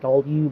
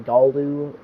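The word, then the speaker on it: Gallu: newer ones being Galu, which I pronounce it wrong, saying it Galdu, but it's actually Galdu. You put the L and then the U.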